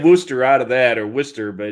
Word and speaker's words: Worcester: ferry yeah yeah or my personal favorite is worchester which is worcester yep i don't know how you get wooster out of that or worcester but it's warchester that's western you go down